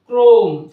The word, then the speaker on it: Chrome: ক্রোম, CHROME, ক্রোম, অর্থাৎ সিএইচ এই লেটারের পরে যদি আর থাকে শব্দে, সেক্ষেত্রে আমরা সিএইচকে কয়ের মতো উচ্চারণ করব।